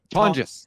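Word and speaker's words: Tonges: and and I think uh Tong's how do you I don't even know how you pronounce it is Tongis.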